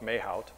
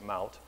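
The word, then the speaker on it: Mahout: Looks like Mayhout. They pronounce it Mout.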